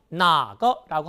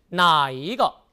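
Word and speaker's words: 哪个: 나 거라고 하면 됩니다 그런데요이 단어는 가운데 한 일자가 들어가서 나이거라고도 말할 수 있고요 이것을 흔히 발음상네 이거라고 말하기도 합니다 그래서 여러분들은요 어느 것이란 말이 나오면 어떻게 나거 또는 나이거 또는 네거 이것이 다 같은 뜻이라는 점 기억하시면 좋겠죠 다 같이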